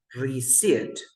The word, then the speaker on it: receipt: This is another word that is mispronounced in English language. We have the Sit. word receipt.